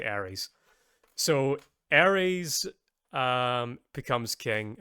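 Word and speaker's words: Aerys: his name is because it sounds like Aries from Aries, the god of war. Yeah. Um, except except it's spelled A R Y S. I think there's a Y in it. I remember that. It's it's spelled differently from what from the Greek way of saying it, but you are supposed to say Aries.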